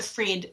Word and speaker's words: Friedt: And one of the biggest pet peeves that I have is when people pronounce my name wrong. And like my name's Freed.